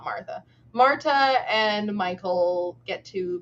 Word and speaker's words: Martha: For what it is worth, her name is spelled Martha, but that doesn't mean that it's necessarily pronounced Martha and not still Marta. But okay.